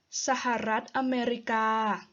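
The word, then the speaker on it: สหรัฐอเมริกา: states of america well in thai is sahara america sahara america sahara america but usually people either say sahara or america so it's your choice and the next one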